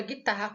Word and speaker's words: guitarra: Mesma coisa na palavra guitarra com o GU. O GU também, o U não é pronunciado, então aqui nós temos um dígrafo.